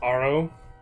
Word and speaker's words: Haro: It's pronounced Aro.